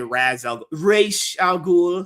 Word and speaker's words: Ra's al Ghul: Like people say Ra's al Ghul. That's how you supposed to pronounce it. It's Arabic.